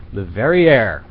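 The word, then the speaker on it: Le Verrier: Leverrier or Leverrier? Leverrier. Are you That's sure? how I'm saying it. Rhymes with derriere.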